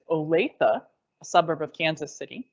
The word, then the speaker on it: Olathe: from Oregon I've been corrected on how to pronounce it it's Olathe a suburb of Kansas City so welcome and